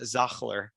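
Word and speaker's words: Sachtler: I see some of the I think Shatler brand. I think it's called. They actually call it Zachler. That's the right way.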